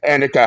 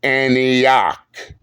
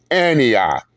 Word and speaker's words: Antioch: there and constantly saying Annika High School, Annika this, Annika High School, Annika. First off, Big J, it is pronounced as Antioch. No, Big J, repeat after me. Antioch.